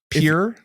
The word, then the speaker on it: Pierre: It's The Real Housewives of Pier. If you're in North Dakota, it's pronounced Pier.